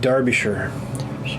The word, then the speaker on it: Derbyshire: It's pronounced Derbyshire.